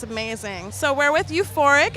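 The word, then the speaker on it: U4IC: people too this is pretty cool okay so euphoric is u for the number four i see you fork is how it's pronounced everyone gets that concern it's like a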